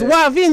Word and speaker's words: wavin: It's Wavin. Just put the W and just say Wavin.